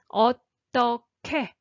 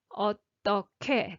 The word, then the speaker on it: 어떻게: And they collide together and actually create ㅋ sound. So 어떻게 어떻게 that's how you pronounce this.